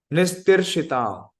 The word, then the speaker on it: nistitīrṣatām: And it is nistitīrṣatām. Yeah, that is the right pronunciation.